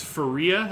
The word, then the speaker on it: Faria: this is relevant now it's Faria and not for you so good for you for looking on that absolutely right again yeah these pronunciation guides no I don't know sometimes I go with Farias sometime to go with Faria who knows it's per baseball-reference so it's Faria alright so you said